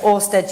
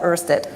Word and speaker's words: Ørsted: Well, you can pronounce it Ørsted. Now, if I do that, my Danish colleagues will tell me it's wrong, and I can do